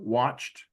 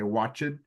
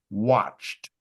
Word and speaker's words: watched: what language you speak it looks like it's going to be two sounds but it's just one watched watched okay thank you